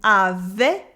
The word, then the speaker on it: avait: We have an E sound in avait with the silent T at the end of avait.